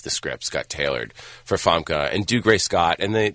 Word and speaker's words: Famke: Famke Janssen, yeah.